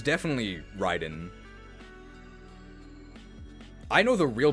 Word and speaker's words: Raiden: Is the official pronunciation of the Mortal Kombat character Raiden? That's just wrong. It's definitely Ryden.